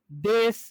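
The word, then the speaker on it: です: তাহলে এখানে এই যে উ উ উ সাউন্ডটা নাই হয়ে গেছে, এই যে সুয়ের উ সাউন্ডটা নাই হয়ে গেছে, তখন কি হয়ে গেল, দেশ। তাহলে এরকম ভাবে দেশ, এটা দেখেন যে মাসও ছিল কিন্তু হবে কি, মাস।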